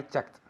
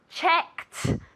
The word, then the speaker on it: checked: I check yesterday I checked very good pronunciation yesterday I checked very important okay it's with a t sound comes if casa very good yesterday I checked very very good okay